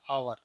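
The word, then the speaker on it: hour: इसका उच्चारण अगर हम करते हैं तो इसका उच्चारण आता है हॉर्स, और इसका उच्चारण करते हैं तो ये आता है आवर।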